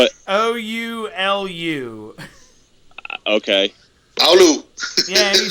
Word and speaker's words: Oulu: Spell it. Oulu. Okay. Oulu.